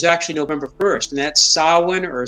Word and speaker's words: Samhain: the first hump that you can't see to the right is actually November 1st, and that's Samhain or Samhain. We say Samhain, it's Samhain.